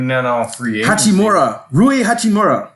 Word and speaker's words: Hachimura: I ain't never heard of Hachimura. Right. Did I say it right? Hachimura, yes.